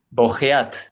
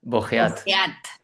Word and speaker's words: Bogeat: Bogueat, ¿está bien pronunciado tu apellido? Bogeat. Bogeat. Okay. Sí, sí, pero bueno, estoy acostumbrado. Es un apellido francés y entonces se puede se puede desvirtuar.